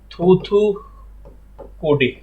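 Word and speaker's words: தூத்துக்குடி: तो देखिए, जैसे ये थूथीकोडी, एक बार आपको जानते हैं बोलना पड़ेगा, तब इसका प्रोनाउंसिएशन आपके लिए सही रहेगा। थूथीकोडी।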